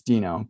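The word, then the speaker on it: Deno: i guess it's because it's supposed to be after the dinosaur in flintstones yeah um and so it's dino but i think the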